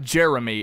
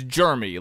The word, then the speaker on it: Jeremy: Not Jeremy, it's Jeremy. Like he's sickly. He's of germs. Have you noticed that? Yeah, Jeremy is a weird word to say because you either go the route of Jeremy like Kristian does, or